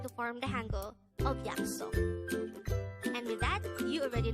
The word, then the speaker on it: 약속: Again, 약속. This is pronounced as a 2-syllable word. The first syllable is 약, the second syllable is 속.